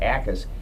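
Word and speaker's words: Jacas: name is spelled j-a-c-a-s the J is silent it's j Gabe akas his play is not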